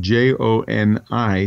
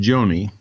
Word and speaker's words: Joni: But her name is spelled J-O-N-I, so you would think it'd be pronounced Joni.